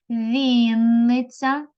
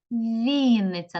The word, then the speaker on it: Вінниця: в цих словах наголос Вінниця Вінниця на Господа на перший склад на і Запоріжжя Запоріжжя Запоріжжя на